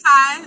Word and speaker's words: Tia: it's Thai, like ta-ta, Okay, ti-ti, Thai. like the rhythm of a drum.